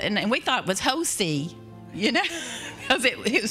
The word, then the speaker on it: Hosea: It is Hosea. And we thought it was Hosea, you know, because it was spelled that way.